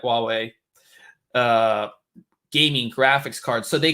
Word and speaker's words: Huawei: don't know how to say this oh wait Huawei okay that's what I thought but I wasn't